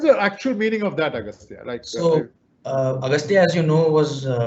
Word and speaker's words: Agastya: Agastya? How do you pronounce your name, my dear sir? Yes, sir. It's Agastya.